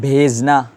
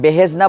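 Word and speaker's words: بھیجنا: হের উচ্চারণ করবো না, মানে হের স্বতন্ত্রভাবে উচ্চারণ করবো না, স্বতন্ত্র তো বোঝা যায় না, মানে হের আলাদাভাবে উচ্চারণ করবো নি, কেন করবো না? এটা চশমা হে।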